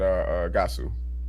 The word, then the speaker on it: Gasu: I mean, not Gosu, but Gasu.